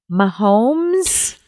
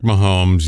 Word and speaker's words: Mahomes: mispronounce this guy's name Patrick momes Patrick Mahomes yes oh I said the name right Patrick see I love